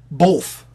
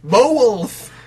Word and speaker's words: both: Both. There's no L in the word both.